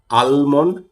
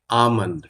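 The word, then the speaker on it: almond: তারপরে এটা কাঠ বাদাম আলমন্ড না এটা আলমন্ড না this is আমন্ড আমন্ড আমন্ড উচ্চারণ করুন আমন্ড এই এল টা কোনভাবে উচ্চারিত হয় না তারপরে কি এটা মিক্সচার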